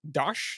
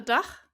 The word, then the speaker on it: DACH: I think it's pronounced Flutter DACH. Is that right? It's Flutter DACH, and it's Ah, DACH is because Deutschland, so Germany, got it. Switzerland, and Austria. So yeah, it was the wrong way around, but yeah, that's